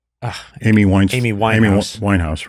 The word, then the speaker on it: Winehouse: And there's Amy Wine uh Amyin Amy Wine House. Amy Wine House, right? Said her name wrong before.